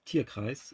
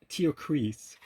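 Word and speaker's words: Tierkreis: tear cries it's pronounced tear cries it's a German word it just means zodiac but I once saw an English trailer it and announcer said called it tear crease no it's tear ch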